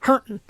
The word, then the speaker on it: Harrington: He just said Harrington, which is a town in this state, but it's pronounced Hurton.